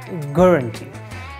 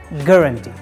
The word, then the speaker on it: guarantee: definitions guarantee or guarantee the first EU is silent we don't pronounce like guarantee just drop the u letter and say guarantee guaranteed so the definition